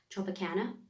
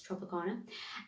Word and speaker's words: Tropicana: I think if you're from America, you pronounce it as Tropicana, but as I'm from London, it's Tropicana. And what they did was